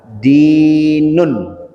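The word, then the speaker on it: دين: da harakatnya kasrah di bacanya. Kemudian ada ya sukun agak panjang berarti bacanya di kemudian akhir katanya ada huruf nun. Kalau hurufnya katanya tidak bergabung dengan yang lain maka bahasanya adalah dinun.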